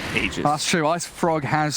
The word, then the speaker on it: Aegis: pronunciation about eondisk radio aegis of the immortal aegis aegis you don't really know because we had a patch where it was said that it's pronounced ages that's true ice frog